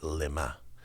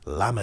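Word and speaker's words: למה: read it lama zaftani, you read it lema. In Hebrew, you could always, the vowels change everything, a couple lines and dots. Lama is why, lema means for what. Same letters, different pronunciation.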